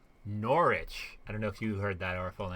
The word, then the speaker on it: Norwich: aware of that because all the syllables of british words disappear norwich yeah i should